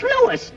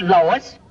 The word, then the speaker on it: Louis: the plant lois lois my name is louis not lois j quiz everybody in troy believes me name wrong it's louis l o u i s lois uh uh